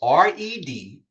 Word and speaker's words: Reggie: You spell it Reggie, but creative is Redgeee. Now don't try to separate it. Say red. G. Say it together.